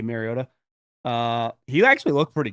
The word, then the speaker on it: Mariota: Uh, turns out Collinssworth was right the way that he was pronouncing Mariota and uh, Mariota got his back saying that's the actual way to uh, pronounce it, though I just say Mariota.